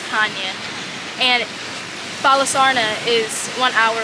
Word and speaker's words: Chania: chania but it's it's spelled Chinese but it's pronounced Kanye and balasarna is one hour away from there